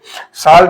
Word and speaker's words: salt: साल्ट में देख सकते हो बच्चों यहाँ पे साल्ट, इसको पढ़ा जाता है सॉल्ट, और इसको जो लिखा